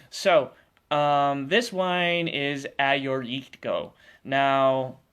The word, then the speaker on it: Agiorgitiko: t i k o that sounds like phonetically this would sound like what a g or e go um it's actually a or e to go so a your e ti ko eritko um that's the greek wine it's actually the